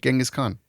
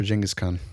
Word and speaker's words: Genghis Khan: I hate saying Genghis Khan. It's always been Genghis Khan, but it's apparently Genghis Khan.